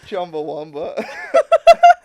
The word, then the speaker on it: Chumbawamba: It's Chumbawamba. That's correct. How do you say it? Did I say it wrong? No, you said it exactly how it needs to be said.